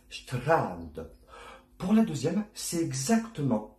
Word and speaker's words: Strand: Pour le Strand, vous avez vu que je fais un grand A et pas un an, tout simplement parce qu'en allemand, le son nasal n'existe pas. Tout ce qui est en, on ou un, par exemple. Donc on va dire Strand.